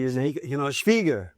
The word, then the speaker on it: Schwieger: But, you know, the Ralf Schwieger story, did I say that correctly? Is it, you know, Schwieger. It's, you know, the German pronunciation is Schwieger.